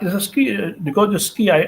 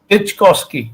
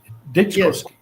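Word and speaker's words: Dyczkowski: I mean, Mark Dikoski, I'm not able to pronounce it properly. Ditchkovsky, yes. Ditchkowski. Yes. Ditchkowski.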